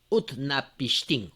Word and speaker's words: Utnapishtim: Vamos a ver. ¿Dónde lo habíamos copiado? Acá. Aquí al último me parece. Upanishtim. Bueno. Entonces, aquí está. Utnapishtim. Upnapishtim. Ese es el nombre.